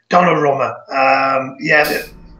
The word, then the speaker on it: Donnarumma: The one player to look out for, I think, is Donnarumma, and that's how you pronounced it, Donnarumma.